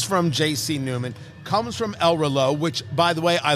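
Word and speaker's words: El Reloj: R Lo r r e l o j the J is silent it's ELO it's clock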